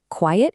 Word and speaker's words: quiet: Quiet is your adjective. It means silent, and it has those two syllables. Quiet, quiet.